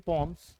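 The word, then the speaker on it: poems: Third लिखा हुआ कि तरुण is writing पॉम्स, इट्स नॉट पोएम्स, is right pronunciation is पॉम्स।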